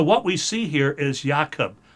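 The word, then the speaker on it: יעקב: So what we see here is Yakob. YaKob. YaKob is how it's pronounced, which is Jacob.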